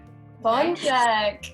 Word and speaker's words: pączek: This is how you pronounce the singular form. Oh, look at you! Egg. Pączek is one donut, one pączek. Check.